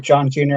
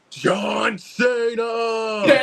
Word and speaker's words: John Cena: hit and strike with John Junior and Jackie Chan on Netflix here he didn't say it right it's John Cena hit and strike